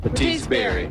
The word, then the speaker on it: Bertice Berry: My aunt's name's Bernice. No, Bertice. Bertice Berry. How do you say it? Bertice Berry.